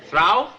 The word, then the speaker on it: through: Through? T-H-R-O-U-G-H is pronounced through.